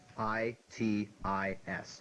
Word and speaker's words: itis: that means quote unquote inflammation of Parkland Keith i t i s correct pronounced itis here's your bonus for 10 points